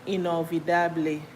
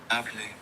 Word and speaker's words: inolvidable: Inolvidable. Inolvidable. Inolvidable. Inolvidable. I feel like the V is pronounced more like B.